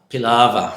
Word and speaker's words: Pilava: Pilava.